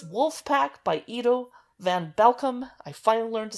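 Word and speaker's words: Edo van Belkom: It's Wolfpack by Ido van Belkom.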